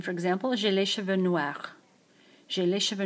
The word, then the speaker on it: noirs: J'ai les cheveux noirs. Notice that the word cheveux is plural, so there should be an S on the word end of noir. J'ai les cheveux noirs, although you don't pronounce it.